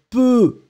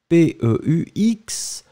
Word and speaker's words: peux: and it will be je peux, P-E-U-X, tu peux, P-E-U-X, and then il, elle peut, P-E-U-T. You pronounce them the same way, but still, you need to write it differently.